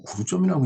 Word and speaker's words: 구두점: 한자로는 구독점이라고 쓰고, 근데 저도 이게 읽을 독자라고 생각을 하고, 구독점이라고 쓰고 구두점이라고 읽나 이렇게 생각을 했는데, 요 읽을 독자를 한번 자전에서 찾아봤어요. 그랬더니 두 자로도 읽더라고요. 그러니까 그 읽을 독자로도 읽지만 두자로도 읽는다라는 얘기죠. 그러니까 구두점이 맞는 거죠. 예. 이 단어에서 구두점이 맞습니다. 발음이. 그래서 구두점이라고 이제 발음은 우리가 하고 있죠.